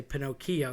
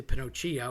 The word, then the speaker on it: Pinocchio: You say Pinocchio, you don't say Pinoccio or Pino show. You don't do that. So, you have a c h.